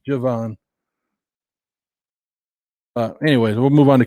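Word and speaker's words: Jevon: It's not Devon, it's Javon.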